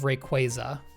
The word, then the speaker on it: Rayquaza: Okay, first A is because it's an ay. Second A does not have two Z's. If there were two Z's, then it would be rayquaza.